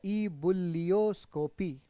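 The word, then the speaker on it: ebullioscopy: इसको बोला जाता है ईबुलियोस्कोपी। क्या बोलते हैं?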